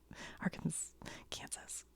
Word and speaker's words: Arkansas: I spelled it wrong you guys have to admit Arkansas Kansas right so this would be ar SAS right AR Kansas Aransas how is it not spelled like this I would like to